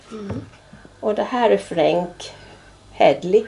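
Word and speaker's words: Frank Headley: Och det här är Frank Hedley, uttalas det va? Ja, Frank Hedley.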